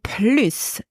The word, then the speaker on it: plus: s is pronounced PL so the S is silent in negative sentences with